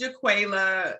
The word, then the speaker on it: JaQualia: to help me out which is the right pronunciation no you got it right it's jaquela and some people yes